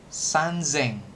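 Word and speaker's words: 三千: Seng atau sanzeng. Nah, kalau 3.000 doang nih beda nih. Sisanya kan sama sengseng semua. Nanti kalau 3.000 doang yang beda sanzeng pakai Z gitu ya.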